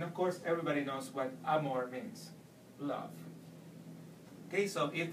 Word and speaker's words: amor: An example would be the word amor. So all you have to do is stress more. Once again, amor.